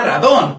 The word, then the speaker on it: Rodan: la que se basa, aunque técnicamente en un inicio era Radon, así es como suena en Japón. Se cambió a Rodan en el mercado estadounidense